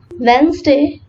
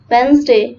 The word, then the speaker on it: Wednesday: Letter D is silent when it appears before the letter G and N. For example, bridge, Wednesday. Yes, the pronunciation of this word is Wednesday, not Wednesday.